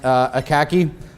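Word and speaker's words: Akacki: Danny, I believe his last name is pronounced Akaki, talks about social engineering in great detail there.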